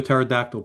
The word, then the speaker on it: pterodactyl: What does the sound of a pterodactyl peeing sound like? What? It doesn't make any sound because the P is silent.